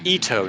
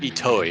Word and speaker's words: Ito: And it's Ito, not Itoi, because there's no I on the end.